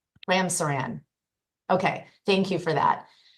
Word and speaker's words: Ramsaran: Sir, am I pronouncing your name correctly? You are, Your Honor. Okay. Yes. Ramsaran. Ramsaran.